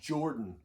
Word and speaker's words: Jorphdan: informational videos they're awesome it's jordan you don't pronounce the ph or something but we always